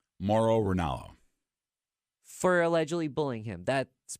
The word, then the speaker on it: Mauro Ranallo: Mauro Ranallo.